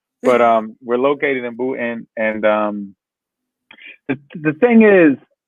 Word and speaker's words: Boonton: listen i call it bhutan everybody i know it's called it's spelled b-o-o-n-t-o-n so some people say boonton i'm just saying there are some people out here who pronounce the end and i'm like what